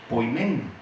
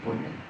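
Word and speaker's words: ποιμήν: es una palabra que se pronuncia poimen, así como se oye poimen, y significa pastor, esa palabra.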